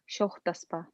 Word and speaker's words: шоқтаспа: Хайдағдан тартыспа, алығдан шоқтаспа. Хыйғадың. Хыйғадан тартыспа, алығдан шоқтаспа. Так, еще раз. Хыйғадың тартыспа, алығдың шоқтаспа. Хыйғадан тартыспа, Во. алығдан шоқтаспа. Алығдың шоқтаспа. Тут уже ударение на «о».